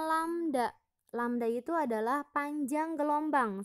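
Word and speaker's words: λ: dituliskan bahwa V = lamda pertek ini dibacanya lamda lamda itu adalah panjang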